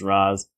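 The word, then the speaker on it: Ra's: Ghul or Rachel go they pronounce it race in this but most other things he's pronounced as Raz um but I like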